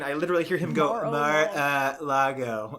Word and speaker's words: Mar-a-Lago: they rated Trump's place in how do you pronounce it? Is it Mar-a-Lago?